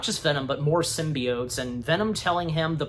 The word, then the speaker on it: symbiote: am I saying it right still symbi symbiot symbiot is that right yes thank you yeah I